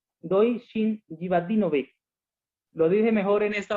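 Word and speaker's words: Dojčin Živadinović: más preámbulo, quiero dar la bienvenida al pastor Doishin Jivanovic. Doishin Jivadinovic. Lo dije mejor en esta oportunidad, ¿cierto, pastor? Sí, buenas tardes, feliz sábado, mundo latino. Mi nombre es Doichin Jivadinovic, es difícil para pronunciar, pero yo vengo de un país que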